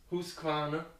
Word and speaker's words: Husqvarna: I still don't know how to pronounce it correctly. It's Husqvarna.